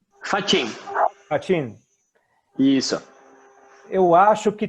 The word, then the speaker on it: Faccin: Vocês pronunciam Facchino ou Fachin? Fachin.